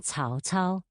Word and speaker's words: Cao Cao: C, as in Cao Cao, is pronounced like the TS in its.